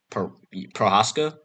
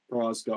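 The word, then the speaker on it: Procházka: Prohaska. Prohaska.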